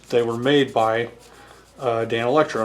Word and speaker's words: Danelectro: by uh Dan Electro now if you ask how to pronounce Dan Electro if you ask the internet how to pronounce it then the thing that pops up says Dane Electro it it treats the first four letters like it's sounding Out the word Dane and so it will actually tell you to pronounce it Dane Electro um if you look